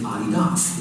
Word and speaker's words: Adidas: Instead, it's named after a person, which is why people pronounce it Adidas. It's named after Adi Dassler, a German guy